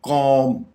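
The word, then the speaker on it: comb: थम अंगूठा अगेन यहां पे बी साइलेंट होगा जिस तरह हमने पिछले दो वर्ड्स में किया तो हम यह बोलेंगे कॉम कॉम कंगी टूम टूम इसको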